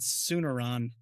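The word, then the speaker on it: Tsunaron: Chuck Campbell as Sanarin. Sanarin, I think his name is. Sooner, I would have said sooner on looking at it. Sooneron. There you go. That's how they say it.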